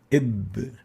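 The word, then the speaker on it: ب: Ib is how we pronounce the ba.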